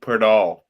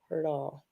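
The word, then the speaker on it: Poeltl: Yeah, his name, yeah, it sounds like it's got an R in it, but it's not there. Perdal.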